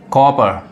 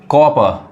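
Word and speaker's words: copper: अब इसको पप्पी नहीं कहते हैं, puppy, puppy, कॉपर, कॉपर, कॉपर, गलत हो जाएगा, क्या पढ़ाएगा, कॉपर, कॉपर, ये आर नहीं पढ़ाता है, कॉपर।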